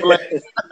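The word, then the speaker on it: Blaydes: If you just beat Derek Lewis, you don't expect to lose to Blaynes. You know what I mean? Is it Blaynes or Blake? Huh? I think I pronounced this completely wrong.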